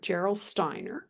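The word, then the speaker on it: Gerolsteiner: is from Europe the name of the brand is spelled g e r o l s t e i n r Geral Steiner and that particular mineral water in of liter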